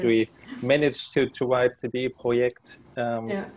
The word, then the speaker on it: CD Projekt: not cd project right it's not cd project it's it's complicated yeah i also i like the way you pronounce it so yeah that's the one benefit of being german and a polish company so the project is very easy to pronounce yeah perfect uh yeah